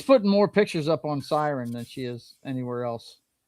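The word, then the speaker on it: SYRN: It's called CERN or Siren. Is that what how it's supposed to be pronounced? Siren? Siren. Yeah, I keep saying CERN.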